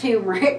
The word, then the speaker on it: turmeric: we've picked turmeric and I'm trying really hard to correct my pronunciation but um even though I've used and cooked and eaten this spice for years and years and years I'm a native Kian and I've always pronounced it turmeric so I'll do the best I can but in my world if it's interchangeable turmeric is the same thing as tumeric so as I start to talk I might slide into my Kentucky pronunciation so turmeric is a